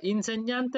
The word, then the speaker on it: insegnante: হ্যাঁ, এটা জি এবং এন যখন একসাথে থাকবে, আগে জি পরে এন, সবসময় উচ্চারণ হবে ঞ, ঠিক আছে।